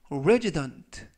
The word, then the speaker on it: resident: 이때 유의하실 점은 알파벳 S가 이번 단어에서는 z, 그래서 resident, 품사는 명사, 뜻은 거주자 또는 주민이라는 뜻을 가지고 있습니다.